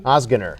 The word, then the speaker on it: Osgener: Osgener. I with knew a it. hard G. I knew it. Osgener. People butcher it all the time. That's okay. It's with a hard G.